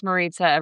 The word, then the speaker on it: Marita: And I'll just say for everybody out there, my name's Marita. rhymes with pizza.